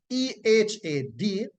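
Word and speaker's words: אחד: So in the text, the word that is used here for one is E-H-A-D, and the word from which it comes is transliterated to E-C-H-A-D, and it is pronounced ehad, right?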